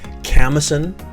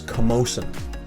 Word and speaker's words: Camosun: lot of confusion so i've heard this as camison campson yeah camison is the most popular one it is camosun camosun as in camosun college a colleague of mine